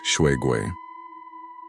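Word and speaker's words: 水鬼: The Water Ghost Shuigui, pronounced Shuigui.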